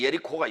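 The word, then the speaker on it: יריחו: 여기 여리고라고 하는 단어는 그 예리코가 여리고입니다. 히에리코, 다 같이 히에리코. 헬라어로 읽으면 히에리코예요. 그 다음에 히브리어로 읽어봅니다. 예리코. 코가 아니에요. 코가 아니고 다 같이 예리코. 코가 아니라니까. 호도 아니고 코도 아니고 그 중간에 발음이라고.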